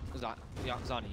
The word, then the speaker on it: Xannii: Xannii, right? Xannii, yes. And thanks to Kips, by the way, for the pronunciation.